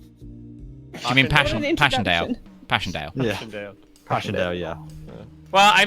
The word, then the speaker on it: Passchendaele: I'm bad at pronunciation. You mean Passchendaele? introduction. Passchendaele.